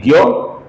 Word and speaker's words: ज्ञ: ये जो अक्षर है दोस्तों इसका हम हिंदी में उच्चारण करते हैं ज्ञ। मराठी में इसका उच्चारण किया जाता है न्य और संस्कृत में इसका सही उच्चारण होता है।